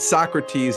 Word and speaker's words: Sockrates: I have to have this person on and Socrates obviously on the play on words it's spelled s o c k r A tes